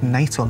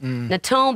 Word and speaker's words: Natal: These are words that change their pronunciation and meaning depending on whether or not they have a capital letter. Right. Yeah. Without a capital T, it's tangier. Natal becomes natal, Polish becomes Polish, August becomes August.